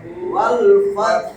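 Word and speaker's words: وَالْفَتْح: তাহলে নাসরুল্লাহি, নাসরুল্লাহি ওয়াল ফাত, ওয়াল এইখানেও সাকিন, এটা থামলেও সাকিন, তাহলে এটার উচ্চারণটা আসতে হবে ওয়াল ফাত, ওয়াল ফাত, ওয়াল ফাত, ওয়াল ফাত।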